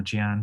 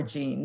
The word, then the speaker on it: Jean: your name is pronounced jean or gian but thank you so much um and it depends on if you're french it's jean and i pretend to